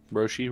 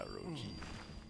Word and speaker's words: Roji: I really don't like that you mispronounce his name like 90% of the time. Roshi? Roji? Yeah, Roji. I don't see no SH.